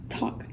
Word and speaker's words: talk: W with the T you have the word talk same thing is true this is though that L is silent this Susilo L isn't fair because L